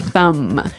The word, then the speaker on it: thumb: No, I actually only pronounce the M.